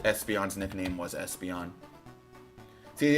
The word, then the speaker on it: Espeon: See, it's its nickname because it's pronounced Espeon, right? There's more an emphasis on that S and on the EON. So it's like Espeon, right? Not just Espeon.